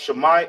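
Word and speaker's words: שמע: Pronounced shama in ancient Hebrew, written in ancient Hebrew is shay.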